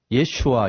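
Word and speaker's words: ישוע: 그러면 예수 친구들과 가족들은 히브리어로 아마 또는 그 예수가 썼던 아람어로 예슈아 이렇게 발음했습니다.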